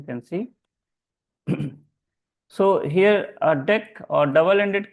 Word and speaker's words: deque: of deck it is it is not DQ actually the actual pronunciation is deck please remember that in